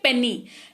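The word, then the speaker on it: penny: अच्छा, फिर है पेनी, पेनी, पेनी का मतलब होता है खुले पैसे, ठीक है, पेनी है ना। तो पेनी वाई है लास्ट में, लेकिन उच्चारण ई के जैसा हो रहा है।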